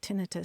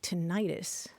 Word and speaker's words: tinnitus: And indeed, I hear lots of medical professionals say tinnitus. So either one's correct. I think the vast majority of us tend to say tinnitus.